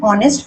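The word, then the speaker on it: honest: The last वन इज शी इज एन ऑनेस्ट person. मैंने बताया कि ऑनेस्ट में देखो एच साइलेंट है, अगर साइलेंट है तो ए नहीं होगा एन होगा इसलिए एन.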